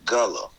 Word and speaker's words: Guale: uh say that uh it's it's guava but you pronounce it gullah so it's spelled g-u-a-l-e some of you will see it like that then you see g-u-a-l but both of them you will pronounce it gala so it's i'm because